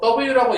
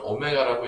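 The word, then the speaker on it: ω: 읽을 때 뭐 W라고 읽었다고 해서 욕하진 않겠지만 좀 없어 보이니까 이제 실제 읽는 거는 w보다는 오메가라고 이제 하나 읽으시면 되겠습니다.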